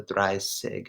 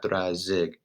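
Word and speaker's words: dreißig: that that's an exception you also have to memorize the try sick not throw zig 80 is toxic noid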